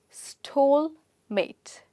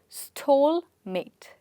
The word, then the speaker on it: stalemate: This is pronounced as stole-mate. Yes, I'll repeat it for you. Stole-mate.